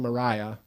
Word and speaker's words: Maria: on the guitar called They Call the Wind Mariah, and I thought it was just a name for the wind. It was quite a shock for me when I found later it's spelt Maria.